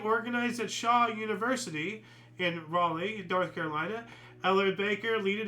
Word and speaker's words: Raleigh: nonviolent coordinating committee in Relay, popularizing the song as a protest anthem. I know I said it wrong. It's Riley or something, right? It has to be North Carolina or something? Raleigh, okay.